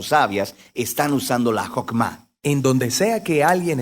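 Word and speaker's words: חכמה: hacemos que es esta fuerza en hebreo se pronuncia jopma y usualmente se traduce al español como sabiduría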